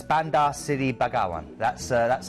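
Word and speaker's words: Bandar Seri Begawan: first Port of Call is brunai and it's Banda City bagaan that's uh that's how you pronounce it easy for you to say I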